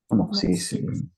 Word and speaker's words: amoxicillin: Amoxicillin. Amoxicillin. Yes. Amoxicillin. That is the Filipino way of reading it, but in the America and the US, they Amoxicillin. they pronounce this amoxicillin.